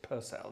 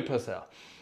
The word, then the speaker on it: Purcell: pronounced Purcell is it pronounced personal is it pronounced it's personal people it's Henry Purcell and this is an extract from his Opera